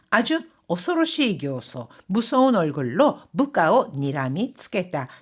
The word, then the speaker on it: 形相: 사실 이 형상이라고 하는 한자어는요, 교소 외에도 케이소라고도 읽을 수 있습니다. 케이소라고 읽으면 정말 형상, 이 모양이란 뜻이 되는데요. 이렇게 분노나 질투 등의 감정으로 무서운 얼굴 표정을 짓는 거라고 할 때는요. 교소와 같이 읽어줍니다.